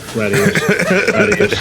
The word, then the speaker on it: Gradius: Gradius. Gradius. Gradius. It's pronounced Gradius.